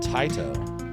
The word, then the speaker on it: Taito: It's by It's a game that's from Taito or Tato, depending on how you pronounce it.